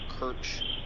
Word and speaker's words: Kerch: I believe it's pronounced the Kerch Strait Bridge.